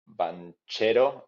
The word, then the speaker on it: Banchero: It's called Banchero. That's how you pronounce it in Spanish.